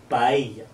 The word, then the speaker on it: paella: Le son, quand vous aurez deux L en espagnol, ça se prononce comme dans le mot famille, paella.